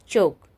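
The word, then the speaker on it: chalk: एच ए एल के सी एच ए एल के तो क्या हो गया हमारा चोक यहां पे क्या है साइलेंट एल अब उसके बाद है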